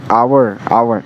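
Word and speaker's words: hour: एंड आवर इसका pronunciation ओ से आ रहा है, तो यहाँ पे आवर हुआ, तो यहाँ पे क्या लगेगा?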